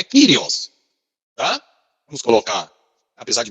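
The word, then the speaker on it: κύριος: A palavra que vocês estão vendo aqui se pronuncia, né? Kyrios. É o que nós chamamos, né? A pronúncia aí da língua grega. Então, é só vocês pegar aqui, ó. É o kappa, Y, o Rho, o Y, o ômicron e o sigma final.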